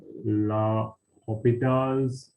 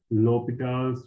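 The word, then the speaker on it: L'Hôpital: me write it here some may pronounce this as uh la hopita's rule some pronounces uh some pronounce it as l'hopital's rule so i would go with the l'hopital rule kind of pronunciation so before using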